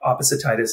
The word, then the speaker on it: opposititis: You say, look, you've probably heard of arthritis, gingivitis, elephantiasis, opposititis, and you even helped me pronounce it. Opposititis.